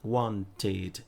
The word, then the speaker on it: wanted: seria o ed, wanted, wanted. E aí, veja que a pronúncia, como o último som foi t, você vai pronunciar o ed com o som de id, tá?